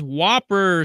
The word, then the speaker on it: WOPR: Okay, the next announcement is Whopper Summit. Spelled like you'd expect, WOPR.